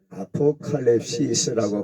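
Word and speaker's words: ἀποκάλυψις: 헬라어로 계시를 아포칼립시스라고 발음을 합니다.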